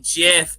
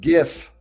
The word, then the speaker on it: GIF: WIF, you mean JIF. There we go. Third Patriot. Love it. No, it's pronounced GIF.